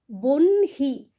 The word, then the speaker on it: বহ্নি: কিন্তু যখন আমরা উচ্চারণ করছি, লেখার সময় কিন্তু হটা আগে লিখছি, উচ্চারণ করার সময় আমরা কি বলছি? বহ্নি, মানে আগে আমরা ন বলছি, তারপরে আমরা হ বলছি।